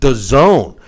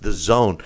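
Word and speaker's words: DAZN: in September on and it's pronounced the zone D AZN is pronounced the zone okay anyway I don't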